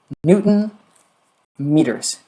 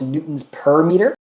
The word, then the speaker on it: newton meters: units for work and i would pronounce that newton meters a lot of times students are tempted to call this newton's per meter they're just in the habit of saying per whenever they have two units that are combined because